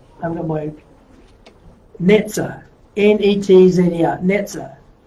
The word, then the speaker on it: Netzer: The Hebrew word for branch is, I'm going to write, Netzer, N-E-T-Z-E-R, Netzer, right?